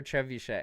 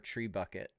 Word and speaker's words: Trebuchet: Mordor Trebuchet. Oh, I love this one because because one of my kids pronounced it Mordor Tree Bucket when he first opened this one.